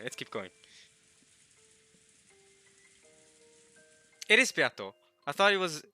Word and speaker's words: Beato: It is Beato. I thought it was Buto.